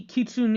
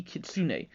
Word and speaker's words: kitsune: kyubi no yoko yeah basically kitsune is the english way to pronounce it but if you're going for a more japanese fashion it would be kitsune like when you say kitsune bai which is fox fire and so on and so